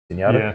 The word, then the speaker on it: Zenyatta: Um, Zenyatta. Is that how you say it? Zenyatta.